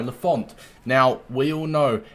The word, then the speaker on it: Lafont: But Lafont, well, I think it's pronounced Lafont, not Lafont, sorry, Lafont.